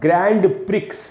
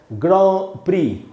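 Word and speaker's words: Grand Prix: इसका उच्चारण जान के आपको हैरानी होगी, इसका उच्चारण होता है ग्रॉ प्री इसको दोस्तों ग्रैंड प्रिक्स नहीं पढ़ना है, इसको पढ़ना है ग्रॉ प्री।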